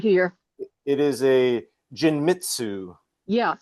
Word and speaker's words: Genmitsu: It is a Jinmitsu, Yeah, Genmitsu.